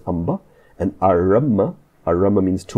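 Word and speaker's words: ampe: A-M-P-E, pronounced Amba.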